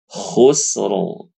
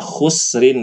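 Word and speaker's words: خسر: kata khusr khusro ya ada huruf k berharakat dah Sin dalam keadaan sukun ro ya harusnya dibaca khusrin ibu-ibunya ya khusrin ya tapi dia disukunkan ya karena memang karena waakaf ya J langsung baca khusro tebal lalu hur tebal hur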